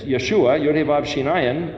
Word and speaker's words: Yeshua: Yod He Vav in front of it, it's Yeshua, Yod He Vav Shin Ayin, or if you put a Yod Shin Vav Ayin, it's pronounced Yeshua.